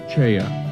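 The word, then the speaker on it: 최: His name is spelled as Choi in English, but pronounced Ch'oe in Korean.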